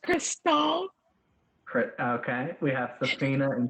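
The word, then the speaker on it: Krystal: bad Mrs and miss Crystal oh okay it's pronounced Crystal okay we have Safina and Crystal okay uh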